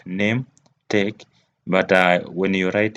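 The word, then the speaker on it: Nahmtech: the pronunciation is named like name take but uh when you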